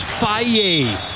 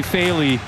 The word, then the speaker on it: Faley: Mark Prescio, 1 year before Hawaii played Irvine in this building, he said, oh, yeah, no, it's a very Italian pronunciation. It's Faye. And it's actually Faley.